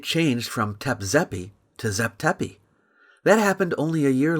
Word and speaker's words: Zep Tepi: So Hancock must have somehow figured out that Zep Tepi is closer to how the Egyptians may have pronounced the term than Tep Zepi.